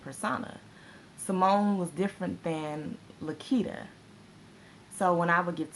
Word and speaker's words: LaQuita: It's actually LaQuita. I think I've discussed that before. It's LaQuita, but it's spelled with a Q, so most of the